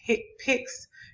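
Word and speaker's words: HCPCS: common procedure coding system our hick pynx pronounced hit picks is a procedure based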